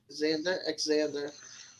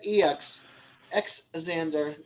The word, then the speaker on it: Xander: So I'm like, Xander. You should have said EX, Xander. Then I would have gotten it right. The E is just, you don't pronounce the E, but Xander.